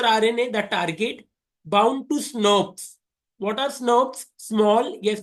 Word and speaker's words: snRNP: They are pronounced as SNRPs.